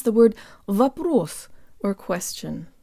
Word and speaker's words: вопрос: pronounce the word of a proof or question the O in the first syllable sounds like an AA flavored schwa let's say it with